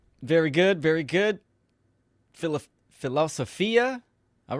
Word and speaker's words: philosophia: cards real quick Banner philosophia which is the Greek pronunciation the love of wisdom